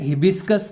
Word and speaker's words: hibiscus: Next spelling है हिबिस्कस की।